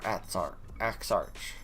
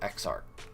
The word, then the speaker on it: Exarch: Most likely Axarch, because the only ARCH word that makes the ch sound at the end that I can think of is arch. Is when no other letters precede it. So I'm gonna go with Exarch.